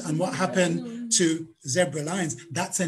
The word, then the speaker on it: Lynes: 1875, James and Mary Lyons, spelled L-Y-N-E-S, pronounced Lyons, named their son, and what else?